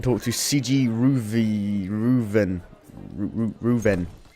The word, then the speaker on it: Reuven: bath house and talk to CI ruv ruven ruven y That's how you pronounce it oo isn't this fancy anybody there